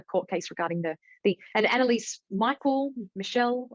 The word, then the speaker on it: Michel: I've heard different pronunciations. Michel. I've always heard Michelle, but I'm not sure. I've always heard Michelle as well. It's German. So Anneliese Michel is what I most recently heard. So that's I'll be pronouncing it that way.